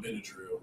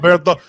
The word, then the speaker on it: Bernthal: I always say his name wrong, but I call him John Benadryl, and that's not his name at all. But the guy that plays Punisher is John Bernthal.